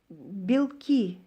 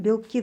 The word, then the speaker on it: белки: Мисалы, белки десек, бул белок деген сөздөн, белки деген белок, бул организмде эң керектүү заттардын бири, ошону көптүк саны белки дейт экен. Монда ийге түшөт ударение. А эгерде белки десек, эге тамгасына түшсө,